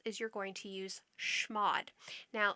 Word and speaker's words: chmod: you're going to use schmod now some people pronounce this with a hard ch type sound some people pronounce this with a soft sh type sound i've always heard it pronounced as shmod i have a demo